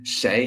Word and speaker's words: 谁: and sometimes it will be spelled in pinyin as shei. But you can choose. You can choose whichever you prefer. So, shay, how do we use shay?